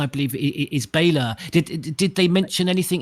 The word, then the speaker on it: Bela: um they just said the pronunciation i think it's romanian um is why i